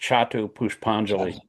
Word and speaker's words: Chhatu push panali: mala as follows with c the c is pronounced ch. Chhatu push panali.